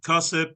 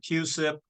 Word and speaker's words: CUSIP: formula or have a you can pronounce it cusip or CIP it's up to you it doesn't matter both ways are right gray and gray tomato